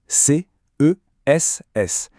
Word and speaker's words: CESS: On le prononce bien lettre par lettre, C S.